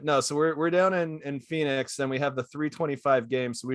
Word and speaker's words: Phoenix: But we're actually on the road in Phoenix, or I believe it's pronounced Pahonix. Phoenix. I believe he adds Phoenix.